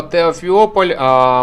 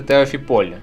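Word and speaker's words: Теофіпіль: прошу за це вибачення Я назвав місто теофіополь мене виправили правильно говорити Теофіполь Сподіваюсь я наголос зараз поставив правильно на о Теофіполь а так я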